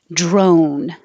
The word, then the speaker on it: drone: Drone, another O. Why does this have a? This should be O. Drone, like home.